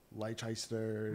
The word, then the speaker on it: Leicester: towns where it's like western instead of like leicester right yeah what's going on up there who's